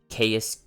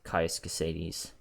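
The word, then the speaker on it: Caius: ] sake I used to call him like chaos Crusades but I think it's pronounced case in the town of balmora go to the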